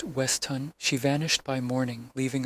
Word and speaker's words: Weston: Beatrice Carver, textile heiress, checked into the grandiose hotel Monday night under the alias Clara Weston, pronounced Westhun.